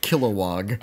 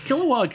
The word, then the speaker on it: Kilowog: also just kill wah I think they just kind of swallowed that no syllable it's got a lot killowog um okay but likes Kilowog is kind of like